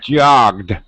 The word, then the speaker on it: jogged: we do we cheat native speakers will do this instead of stopping and starting with the G here and the D here more down here we'll go somewhere in the middle okay and we'll say jogged and then will only release our drop our tongue down once jogged it's just Str but